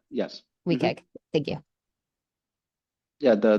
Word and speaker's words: WCAG: plugin for w yes weag thank you yeah the W CAG the web content accessibility guidelines so we we in this field we have the bad habit of just pronouncing the acronyms which is not a